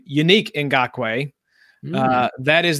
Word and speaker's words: Yannick: Yannick and Gok way pronounced his first name unique in Gok way that